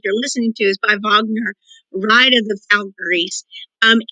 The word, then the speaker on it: Wagner: how it's pronounced that the w is pronounced as a v wagner brahms and schumann wagner